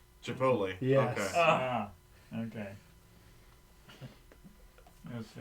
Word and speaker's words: Chipotle: For the longest time, my mom called it Chipatelli. Chipotle.